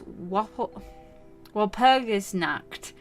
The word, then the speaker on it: Walpurgisnacht: So on the night of May the 1st, it is Walpurgisnacht.